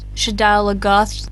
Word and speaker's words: Shadar Logoth: Shadar Logoth, yeah. Oh my god, is that how you say it? Yes. I said it, Shadar Logoth.